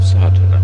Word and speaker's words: Sadhana: going through the proofs a word may be added about the pronouncing of satana the accent Falls decisively on the first a which has the broad sound of the letter chapter 1 the relation